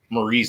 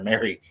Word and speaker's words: Marie: Oh yeah, and all night I actually mispronounced Marie's name. I was calling her Mary, and at the end of the night.